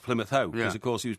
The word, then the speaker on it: Plymouth Hoe: And it goes on about Plymouth Hoe and are you sleeping down below rhymes with Plymouth Hoe because of course he was playing bowls on Plymouth Ho when the Spanish Armada came.